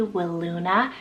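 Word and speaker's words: Wiluna: also have willuna Fox it's spelled w-i-l-u-n-a will Luna such a gorgeous and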